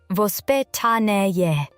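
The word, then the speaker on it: воспитание: In Russia, parenting has traditionally been influenced by a concept called vospitanie, pronounced vospitanie. The word doesn't translate perfectly into English.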